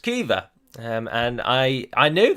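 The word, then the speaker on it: Caoimhe: spelt c-a-o-i-m-h-e which obviously for an english-speaking person looking at that you would say calm or maybe calm hey um but it's pronounced kiva um and i i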